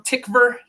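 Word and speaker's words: Tykwer: uh directed by Tom tickver doesn't look like it's spelled that way yes said that way um but it is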